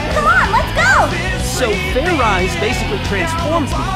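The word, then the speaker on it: Fairize: again and this time make sure you pronounce the z let's do this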